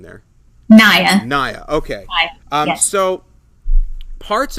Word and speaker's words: Naya: Naya, Nia, what's the correct pronunciation there? Naya.